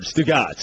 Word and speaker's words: Stugotz: We laugh on our show where I think you, like, it's just one word, Stugotz.